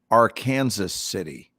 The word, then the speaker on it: Arkansas City: kansas um there is there is a city that when you look at it what it says is arkansas city only it's pronounced our kansas city it is our kansas